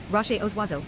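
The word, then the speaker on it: Rochers aux Oiseaux: The roaches auxo French pronunciation rash oswazo bird rocks are an uninhabited archipelago in Quebec Canada located in the Gulf of St.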